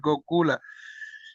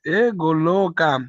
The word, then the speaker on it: Goloka: transcendental kingdom of God, Gokula. Is it Gokula? Goloka Vrindavan.